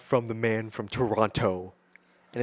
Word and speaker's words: Toronto: what did they say they say toronto toronto they they enunciated the t the second tee and it's just like what's not yeah it's toronto i'm kevin it was